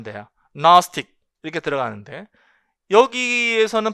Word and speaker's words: gnostic: 요거랑 그 다음에 또 여기서도 여기서는 또 여기도 그 사운드가 발음이 안 돼요. gnostic 이렇게 들어가는데 여기에서는 발음이 된단 말이죠.